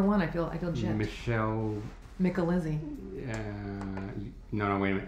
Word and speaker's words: Micalizzi: Micalizzi. No, wait a minute. It's Melissa McKinley. So try to say that back to back. So I'm here with Michelle Micalizzi.